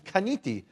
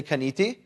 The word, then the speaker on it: kaniti: And the word for I created, those two words, is kaniti. Say kaniti.